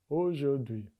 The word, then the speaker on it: aujourd'hui: Aujourd'hui.